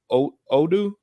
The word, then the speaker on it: Udu: I think you pronounced it Odu. Udu. Udu is how you pronounce it. We're going to go back to that Udu comment and everything.